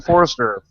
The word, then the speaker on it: Foerster: blogcast tonight we have a special guest Brian Forester Brian did I pronounce your last name correctly yes okay awesome